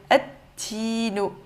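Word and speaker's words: التين: Le lam, on l'oublie. On va dire at. Donc, ici, on a directement le ta. On va dire at-tinu.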